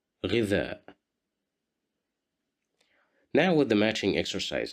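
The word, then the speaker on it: غذاء: Here we have Kasra right below the letter Ghain, so we will pronounce it as Ghi, Ghidha, Ghidha, Ghidha, which means food,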